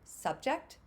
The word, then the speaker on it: subject: So in subject, subject, where is the emphasis? In subject, it's in that second syllable. In subject, it's in the first syllable.